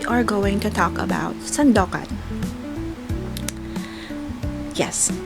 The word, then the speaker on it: Sandokan: And today's Chismis, we are going to talk about Sandokan. Yes, Sandokan. Alright, hindi siya Sandok ha, Sandokan. Sandokan talaga yung title niya.